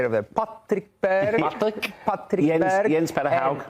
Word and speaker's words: Patrick Berg: Patrick Berg.